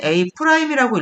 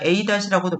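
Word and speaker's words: A′: a- b- c- 이거를 보통 원래는 a 프라임이라고 읽어야 되는데 요렇게 있으면 그냥 a-라인 해 줍니다 원래는 프라임이라고 있는게 맞는 표현이야 그래서 요렇게 있습니다 그럼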